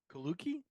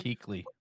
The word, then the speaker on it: Kuechly: I believe it's pronounced Kaluki? Luke Kaluki? Keekley.